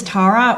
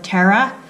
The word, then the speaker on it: Tara: My name is Tara, or Tara, whichever pronunciation floats your boat, although I'm more used to the former.